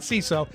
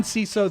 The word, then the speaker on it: Seeso: But more about CISO. CISO is comedy for comedy nerds by comedy nerds. It's spelled SEESO.